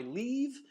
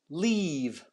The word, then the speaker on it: leave: it up already Okay so this distinction between e and a super important let's do one last one weave yeah I'm leaving the house um I take my leave all right so let's have that leave all right perfect so I think you get the point the idea here is to have long e sounds versus short eight sounds to make a